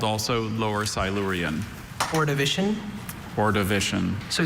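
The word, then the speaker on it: Ordovician: Orivision.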